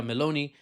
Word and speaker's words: Meloni: Italian Prime Minister Giorgia Meloni, many are saying, is chatting baloney. Sorry, I had to, because it rhymes with Meloni.